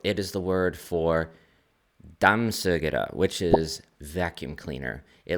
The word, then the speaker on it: dammsugare: And so I thought it said, like, it looked like damn sugar.